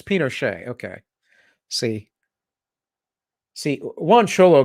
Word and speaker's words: Pinochet: that's fine pinot pinochet pinochet that's right it's pinochet okay see see juan cholo got it for